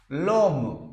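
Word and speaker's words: homme: put l apostrophe like h o m m e LOM pronunciation is LOM H will remain silent and its pronation will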